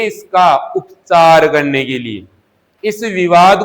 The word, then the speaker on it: कालू: इसी प्रकार किसी के भैया का, किसी के परिवार के सदस्य का नाम क्या है? कालू है, तो इसे कालू उच्चारण न बोलकर क्या बोला जा रहा है? काड़ू।